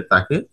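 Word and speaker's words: تاء: তা হরফের উচ্চারণ জিহ্বার আগা ও সামনের উপরের দুই দাঁতের সানায়ে উলিয়ার গোড়ার সাথে লাগিয়ে তা উচ্চারিত হয়।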